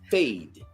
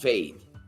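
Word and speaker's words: Feid: But production says that it's from Fade. F-E-I-D. I guess it's pronounced Fade.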